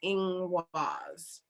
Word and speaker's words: Ingwaz: Ingwaz, and that's the rune up there in the corner, and that's how you spell it, but it's pronounced Ingwaz.